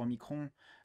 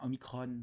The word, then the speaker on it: Omicron: De deux, à ce que je sache, enfin, de ce que j'ai compris pour l'instant sur Omicron, enfin Omicron, pardon, parce qu'il faut prononcer à la grecque, euh, il n'y a